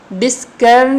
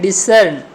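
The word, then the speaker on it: discern: डिस्कर्न इसको प्रोनाउंस नहीं करना है बल्कि क्या करना है? डिसर्न। स की आवाज़ आएगी, किसकी?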